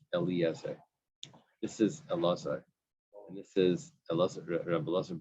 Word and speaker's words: Elazar: There's a difference here. Eliezer or Elazar? Elazar. Elazar, right. Yeah, the down one.